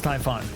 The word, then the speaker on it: Typhon: after looking it up typhoon is not pronounced the same as typhoon it's not okay so it is Typhon or is it not